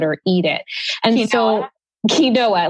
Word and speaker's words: quinoa: nobody knew how to work with kale and Keen while people didn't even know how to pronounce quinoa let alone cook with it or eat it and so quinoa like quinoa Queen what you know you know